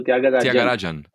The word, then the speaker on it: Thyagarajan: shot so okay tagayan is that moderately yeah you got it right except that the J is pronounced as J so tagar Rajan okay okay so not